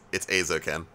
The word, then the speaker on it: Eizouken: Let's talk about this incredible fucking show, Keep Your Hands Off Eizouken. Yeah. Okay, so I don't want to be this guy, Stu. Mm-hmm. It's Eizouken.